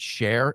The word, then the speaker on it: Sher: it's not but my last name's s r that I pronounce it share everyone says sh you know so I